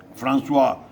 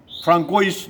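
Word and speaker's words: François: के राष्ट्रपति भी थे फ्रांसुआ हॉलैंड। जब उसका स्पेलिंग होता है FRANCOIS, फ्रांकोइस नहीं कहेंगे, ज़्यादातर लोग फ्रांकोइस।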